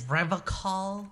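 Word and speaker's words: Revachol: He pronounces Revacol with a hard K, unlike other people. Oh my god, you faker. Serious question time. This man is no innocent. No one is. You said revocall.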